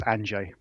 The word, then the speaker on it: Andrzej: not please correct me you're close enough it's anj anj okay fantastic fantastic we're we're both we both have polish background so I'm I'm trying my best but of course I don't speak Polish either so so yeah you got mfi right it's anj is the one that gets everyone they they all kinds of pronunciations yeah the r and the Zed um that kind of pronunciation is not an easy one no no so Andre